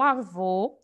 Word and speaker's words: avô: acentuação e por exemplo avô é uma palavra oxítona eu jamais poderia pensar o contrário porque eu não estou falando de monossílaba eu estou falando na palavra oxítona para que ela seja oxítona ela precisa ter duas ou mais sílabas então aqui a vou a sílaba tônica é vô eu já disse para